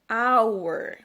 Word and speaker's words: hour: Eu uso esse H com som de O, hour. Eu só pronuncio o R.